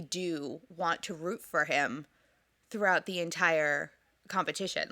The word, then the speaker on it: Aech: the character's name, and it's spelled out AECH. And it's like a line and a half before they go, oh, it's pronounced like the letter H.